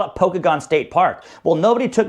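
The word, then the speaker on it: Pokagon: So, in Punk Rockam Radio World, it's pronounced Pokeagon State Park. It's pronounced Pokeagon, but okay, whatever.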